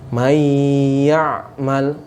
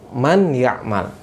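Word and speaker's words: مَنْ يَعْمَلْ: Nunnya itu dimasukkan ke dalam huruf setelahnya, sehingga kalian perhatikan di buku ya, huruf ya-nya bertasydid tidak? Iya, bertasydid. Kenapa bertasydid? Ya, karena nunnya ini ya secara bacaan ya masuk ke dalam huruf ya, walaupun secara tulisan ditulis. Sekali lagi, cara membacanya mayya'mal, bukan man ya'mal.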